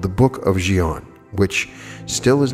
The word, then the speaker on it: Dzyan: Now, I briefly mentioned the Book of Dzyan in the last episode, and I did check on the pronunciation, so that is correct pronunciation. It's spelled D-Z-Y-A-N.